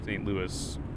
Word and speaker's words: St. Louis: Yeah, so Louisville is Louisville, but St. Louis is St. Louis.